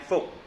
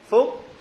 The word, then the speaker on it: Phuc: Phuc, it is very weird name, P-H-U-C, if you pronounce in English.